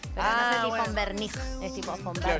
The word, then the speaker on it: Von Wernich: Es como la BW de los autos.